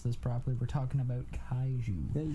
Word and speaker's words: Kaiju: We're talking about, I can't even pronounce this properly, we're talking about kaiju.